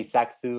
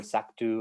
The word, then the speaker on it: Sacthu: You can pronounce it the way you want, whatever you want, because it's just a made-up word with no real meaning. It's just so. Okay. So you can say Sacthu or Sactu or Okay.